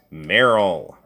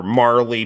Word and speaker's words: Marle: oh by the way my name is merrill or marley people pronounce it differently uh either way okay